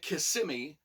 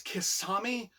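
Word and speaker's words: Qisami: favorite character Kissimmee and I was pronouncing it Kissimmee but I think it's kisami q-i-s-a-m-i now this is a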